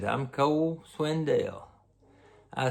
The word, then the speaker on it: Swindell: I said Swindell. Swindle. I said Swindle. His name is Swindell.